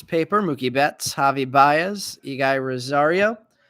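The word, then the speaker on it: Eguy Rosario: Mookie Betts Javi Baez ige Rosario Aggie Rosaria I think actually is the way his name is pronounced um Ali rauschman rookie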